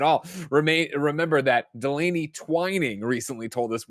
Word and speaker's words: Twining: remain remember that delaney twining recently told us for years we've been mispronouncing his name twinning i definitely fell back in old habits and said twinning at the top so i